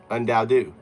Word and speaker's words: UnDaoDu: Undau. Say my name. Okay, I understand. Your name is pronounced unao.